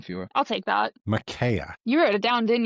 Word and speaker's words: Micaiah: Micaiah.